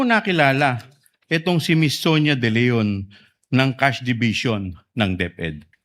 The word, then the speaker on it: De Leon: With the permission of Representative Chua, can you pronounce the name more distinctly, ma'am? Ano pong pangalan? Sonia? Sonia De Leon.